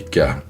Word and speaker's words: ㅋ: Kyok, le son de base entre G et K. Léger sans souffle le son plus neutre des trois. K le son aspiré un cas fort avec un souffle d'air prononcé.